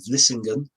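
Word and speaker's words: Vlissingen: Um but then also an attack on Flushing uh or um friend taught me how to pronounce this Vissing the Dutch town on the south.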